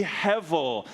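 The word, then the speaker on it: הבל: written with a be pronounced with a V Hevel and heavily means a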